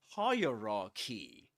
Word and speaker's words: hierarchy: The point is that we say hierarchy and the accented syllable is the first one.